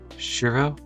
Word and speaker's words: Shirou: So this is the correct pronunciation? Shiro? Yeah, it's perfect.